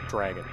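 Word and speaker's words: Draygon: and dragon was pronounced dragon just d-r-a-g-o-n dragon and look at how they're spelled that ain't it d-r-a-y-g-o-n they put a y in there dragon fan tune there's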